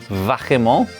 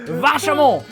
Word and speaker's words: vachement: Vachement.